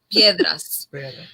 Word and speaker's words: Piedras: Okay, I pronounced it right. Piedras.